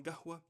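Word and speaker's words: قهوة: Oftentimes in the Khalij region, the qaf will be pronounced as a G sound, as a g. So qahwa will become gahwa, so on and so forth, right?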